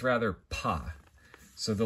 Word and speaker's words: Pa: And Aaron Leitch provides this helpful pronunciation guide, and he puts it listed as Pa, just the same way, like Mon Pa Kent, if you are a fan of Superman.